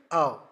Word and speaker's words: of: How to pronounce it? Av. By the help of the lower lip and upper teeth.